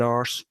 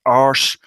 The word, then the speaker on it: arse: It would have been better if he'd said arse. That's the proper way to pronounce that word, arse.